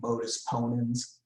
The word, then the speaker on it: modus ponens: that they gave it this fancy latin name modus ponens is how that's pronounced and so here's the modus ponens argument